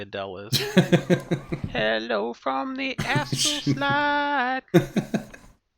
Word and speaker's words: Adeliz: I pronounce it Adilas. I mean, I'm just gonna assume that you're wrong because you're never right. But I don't know. It's actually Adele. It's actually Adele is.